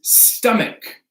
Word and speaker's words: stomach: Another one we have is stomach. Stomach. So we don't pronounce this stomach, right? It's with a hard K.